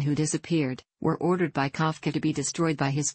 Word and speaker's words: Kafka: image of a jackdaw in Czech pronounced and colloquially written as Kafka as his business logo